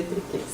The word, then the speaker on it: Trichês: vocês, para quem não me conhece ainda, ou para quem tem dúvida, né, sobre o meu sobrenome, porque se escreve Trichês, né, mas se lê Triquês.